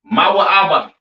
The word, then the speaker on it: Moab: All right, Moab, pronounced Mawa'aba.